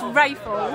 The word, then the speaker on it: Raphael: How do you pronounce it? Absolutely. I'm is it very Raphael? Happy to. It's Raphael. It is Raphael.